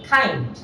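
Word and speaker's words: kind: তাহলে কাইন্ড না হয়ে এটা হালকা এইচ এর সাথে উচ্চারিত হবে, ওটাকে বলা হয় অ্যাসপিরেটেড কাইন্ড, কাইন্ড।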